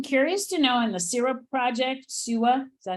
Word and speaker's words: SEWA: But I'm curious to know, in the SEWA project, SEWA, is that how you pronounce it? S-E-W? SEWA, yeah. SEWA, okay.